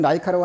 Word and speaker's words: 라이카: 2호기를 만들어가지고 이와 같은 동물, 이제 뭐, 라이거라고 되어 있지만 라이카라 카라고 많이 발음해요. 이와 같은 라이카라고 하는 요 동물을 갖다가